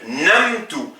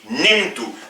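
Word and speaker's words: نِمْتُ: que à la base la fatha se prononce a et la petite Welle du a c'est la fatha donc logiquement je devrait dire NAMT mais non je dis nimtu donc pour ces deux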